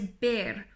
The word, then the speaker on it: ver: the next one is bear remember that the V in Spanish is pronounced like the B okay so bear to